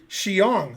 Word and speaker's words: Xiong: ben eventually it's not going to happen will pronounce my name correctly xiong but i'm not doing it although crush did